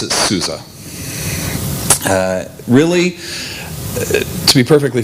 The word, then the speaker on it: SUSE: um but it's pronounced the s's are z's so you technically pronounce it at least that's the way the germans pronounce it i'm not german i simply pronounce it souza uh really to be